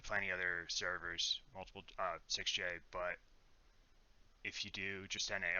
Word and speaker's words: SixJ: He just told me that he likes to call himself 6J. Now it's like standardized, and he's trying to get that pronunciation out. I've been calling him 6Js for a long time, so I've gotta fix that. Anyway, yeah, 6J has Mozaki Mage.